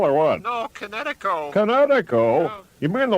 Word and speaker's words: Kinetico: Oh, East Coast son, little you should have remembered kinetic as in kinetic energy with an O on the end. Kinetico.